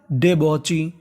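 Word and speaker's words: debauchee: क्या पढ़ते हैं अ यानी आपको इंग्लिश में कहीं पर ए यू लिखा मिले तो उसका उच्चारण करते हैं ओ क्या करते हैं ओ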